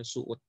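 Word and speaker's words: Söğüt: Desa eh apa namanya Suud namanya sogud tulisannya tapi bacanya Suud berhenti di situ Ini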